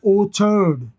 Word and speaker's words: orchard: इसी से देखो इस CH का प्रोनाउंसिएशन चेंज हो गया। ORCHARD ये होता है ओछर्ड, ओछर्ड।